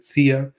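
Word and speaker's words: Zia: rahm También conocido como tarik ciaa irónico no aunque se escribe con z pero suena exactamente como esa agencia estadounidense tan famosa bueno tari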